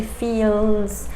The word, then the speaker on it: fils: In that final one, you have an L, but we don't pronounce it. We don't say fils, we say fils, fils.